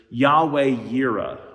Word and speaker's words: Yahweh Yireh: And we get a name for God out of this that is mentioned in the scriptures, Yahweh Yireh, or in a maybe more familiar way to pronounce it, Jehovah Jireh.